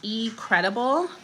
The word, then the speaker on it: eCredible: So one of the first places I want to show you guys is eCredible, which is spelled like letter E, credible.